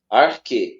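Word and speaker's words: ἀρχή: que você perguntou aí, esse sinal aí realmente você não pronuncia ele. Esse é sinal de Entendi. aspiração fraca, de aspiração fraca. Arque, pode ver que não é ar, arque.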